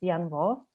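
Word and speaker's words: Danh Võ: You write it Dan Vo, but you can't actually pronounce it Yan Vo.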